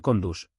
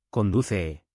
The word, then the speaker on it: conduce: Conduce no es te condus, es con u suave, conduce.